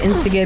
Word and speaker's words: Instagib: Found out that Instagib means instantaneous giblets, so it should be pronounced as you pronounce giblets.